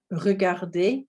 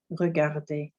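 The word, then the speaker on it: regarder: common verbs in french er verbs er on the end we we don't pronounce it with this sound okay i think that'll be quite hard at the end of the word um so it's actually an a sounds er is actually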